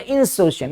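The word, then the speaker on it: insouciant: आ जाओ, identify the synonym of इंसोशिएंट, इंसोशिएंट, pronunciation क्या, इंसोशिएंट, इंसोशिएंट मतलब अनकंसर्न्ड बंदा,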